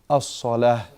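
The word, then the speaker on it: الصلاة: As-salah. As-salah. It's as-salatu. But because it's ending on what kind of ta? At-ta al-marbuta. It ends on this ta. So you make it a ha in the pronunciation.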